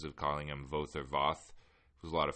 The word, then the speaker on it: Voth: Voth, or Voth, and it can be both because it's Voth, and it rhymes with both, and I'm just going to start calling him by his proper name, which is Voth from now on.